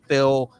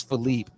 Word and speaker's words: Philipe: kid so she would always correct people and say uh uh you know it's not Phillip it's not Phil it's Philipe get it right and